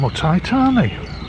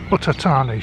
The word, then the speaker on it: Uthai Thani: And hello from Utitani, Utatani, should I say, depends on pronunciation.